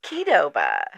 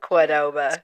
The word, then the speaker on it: Qdoba: But it's Kedoba. It's not Quidoba.